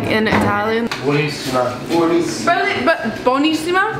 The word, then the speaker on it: buonissima: Buonissima. Buonissima. But buonissima? Buona. No, buonissima. Buonissima. That's how it's B-U-O.